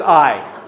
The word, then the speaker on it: Ai: How many of you pronounce that Ai in your head? All right, stop it. Thank you. It's just Ai.